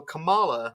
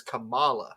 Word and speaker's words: Kamala: But the wrestler is Kamala, not Kamala. Kamala versus Kamala versus Kamala Harris. I mean, all the letters. All the letters are pronounced the same. It's just what you stress and what you don't.